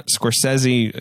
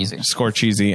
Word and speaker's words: Scorsese: And then you got Greta Gerwig, the Safdie brothers, Martin Scorsese, who's up and guy, coming. yeah, I think it's pronounced And Celine. Scorsese.